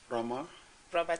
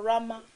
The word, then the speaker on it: Rhema: Rama Church. Yeah. Comme c'est anglophone, vous comprendrez que le pasteur le prononce en anglais, c'est ça? Rama Church en anglais.